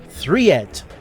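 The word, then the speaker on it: Thred: that level editor that spelled thread but pronounced threed which by default gives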